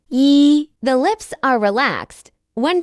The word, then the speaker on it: 一: 一、一，一， When pronouncing this sound, the mouth is slightly open in a flat shape. The tip of the tongue rests against the lower gum ridge.